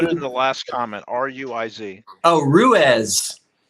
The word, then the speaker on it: Ruiz: Ruiz. Oh, Ruiz. Well, Reese would Ruiz or Reese. Okay. Down here in Texas, it would be Reese.